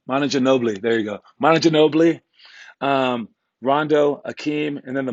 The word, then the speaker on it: Manu Ginóbili: than the situation all right today we're doing monitor nobly why don't you know I can't say my name should know blue manager nobley there you go Manu ginóbili Rondo Hakeem and then the mono layup and